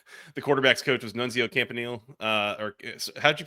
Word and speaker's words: Campanile: I had not realized the the quarterback's coach was Nunzio Campanile. Or how'd you pronounce that? Sorry. Campanale, yeah.